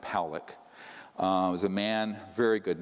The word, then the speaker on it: Pollack: This man, William Pollack, his name is pronounced Pollack, was a man, very good man, who gave me an interview only to be released posthumously after he died.